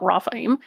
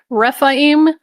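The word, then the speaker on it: Rephaim: Not Rafaim. Refaim, Anakim, and then Nephilim.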